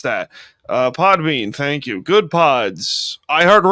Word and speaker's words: Podbean: You can find the show wherever you get your podcast on Apple, Spotify, uh now Podpan or however the heck you pronounce that. Uh Podbean, thank you.